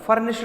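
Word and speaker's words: furnished: Okay student, इसको फर्निश्ड मत बोला करो, फर्निश्ड नहीं है, फर्निश्ड। ठीक है, यहां पे जो ईडी है ना, ये टे का उच्चारण देता है, ना कि बेटा डे का। ध्यान रख लेना इस चीज को। या ईडी जो है ये टे का उच्चारण देता है ना कि डे का।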